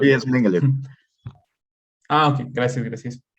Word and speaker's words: Mengele: pues el Mengele, bueno, así se Ah, escribe, no sé si lo estoy pronunciando Sí, bien. es Mengele.